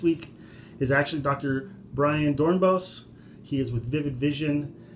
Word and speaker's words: Dornbos: Dornbos. Oops, I always get his name wrong. It's Dr. Dornbos, not Dornbos. I always mispronounce it.